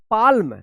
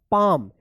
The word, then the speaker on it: palm: पाल्म, नहीं, इसको पढ़ा जाएगा पाम। यहाँ पे भी क्या है? एल साइलेंट रहेगा, इसका कोई उच्चारण नहीं होगा।